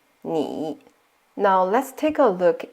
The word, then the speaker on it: 你: I in this case pronounced as E, like E, like C or me. So we say it together as 你, 你.